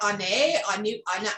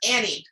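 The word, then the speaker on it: Ané: Anu? It's Annie. That's it. It's Annie.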